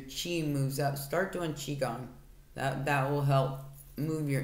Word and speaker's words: qigong: So as the energy, your chi moves up, start doing qigong. That will help move your energy around a little bit. It's Q-I-G-O-N-G. I believe that's how you spell it.